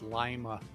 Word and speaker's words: Lima: Actually, I believe it's pronounced Lima.